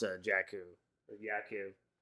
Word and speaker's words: Jakku: pronounce uh jakku or yaku is it yaku or jakku it's jakku it seems like a